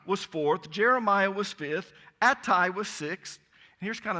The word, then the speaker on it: Ittai: Ittai, or Attai as we pronounce it, was sixth.